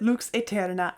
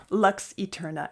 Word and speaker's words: Lux Aeterna: sung that way um I pronounce it looks Eterna I cannot bring myself to pronounce it Lux Eterna it's just not in